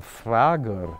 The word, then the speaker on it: Frager: His name, Frager, if you pronounce that in German, then you have Malcolm Frager, and Frager means the one who asks questions.